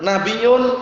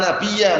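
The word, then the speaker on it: نبيَّ: Karena kita bisa melihat la dijadikan mubtada, nabiyyun khabarnya. La adalah nabi setelahku. Yang benar la itu la nafiyal jinsi, la yang meniadakan seluruh jenis, la nabiyya bacanya. Tidak ada nabi setelahku sama sekali.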